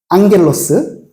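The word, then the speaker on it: ἄγγελος: 헬라어 다 아시는 단어죠 앙겔로스 그저 발음할 때 제일 많이 나오는 거잖아요 그죠 정말 감마 두게 겹치는 거 앙 발음 난다 그러고 다까 먹으셨나요 겔로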